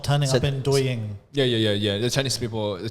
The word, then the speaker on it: Douyin: It's like, I think it should be Douyin. Douyin. Yeah. Didn't you hear me say that before? It was Douyin.